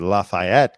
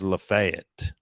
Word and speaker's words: Lafayette: like the French the Frenchman Lafayette I was pronouncing it Lafayette County and the radio guy who I was working for pulled me aside and said it's pronounced Lafayette so try to be respectful of the local